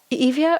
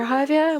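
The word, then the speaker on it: Hyvia: us more about the javier strategy is it evia or javier well if we're all french evia but internationally we pronounce it javier so javia brings together two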